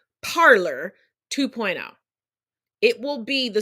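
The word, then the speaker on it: Parler: it will turn into it's actually pronounced parlay but since they're stupid parlor 2.0 it will be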